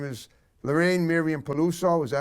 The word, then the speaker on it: Peluso: Her name is Lorraine Miriam Peluso.